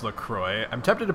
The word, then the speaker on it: LaCroix: I think it's pronounced LaCroix. I'm tempted to pronounce it LaCroix because French, but I think it's actually supposed to be pronounced LaCroix.